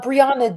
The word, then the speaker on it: Briannagh: Uh, Briana Brianna Yes. Okay. So, where's the GH? GH is silent.